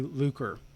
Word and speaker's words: lucre: He's not a striker and not a greedy or filthy lucre. So, or lucre, I don't know how to pronounce that actually.